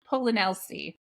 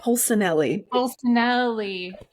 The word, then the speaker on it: Polsinelli: I said your name wrong the first time, and now it's like stuck. I can't get around. Kat Polsinelli. Did I get it? Polsinelli.